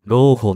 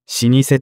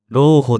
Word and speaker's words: 老舗: でできている老舗は一般的には老舗ではなく老舗と読むのが正しいとされるが国語辞書や漢字検定では老舗でも正しいとされて